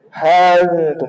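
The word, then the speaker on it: ها أنتم: Ha antum, tadi kalau Nafi bacanya dalam riwayat Qalun, ha antum gitu ya. Ha antum. Jadi dia tidak ada hamzah.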